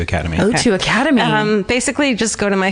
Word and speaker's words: O2 Academy: gonna be at the is it the o2 Academy is that how you pronounce it yeah though two Academy two Academy basically just go to